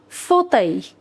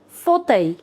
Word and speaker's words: fauteuil: An armchair is known as un fauteuil. Un fauteuil. Fauteuil. Fauteuil. L is silent.